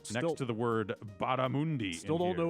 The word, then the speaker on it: barramundi: next to the word barramundi. Still in don't here. know what that is, but I'm glad that it's crispy. Here it says bar, mun, M-U-H-N, Okay. D-E-E, Okay. as their pronunciation guide.